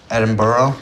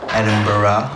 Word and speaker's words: Edinburgh: Yeah, she said she was gonna take me back to Edinburgh. That is not how you pronounce that word. It is bruh. Edinburgh.